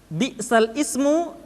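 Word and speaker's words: بِئْسَ الِاسْمُ: Bi'sal ismu dibaca menjadi bi'salismu.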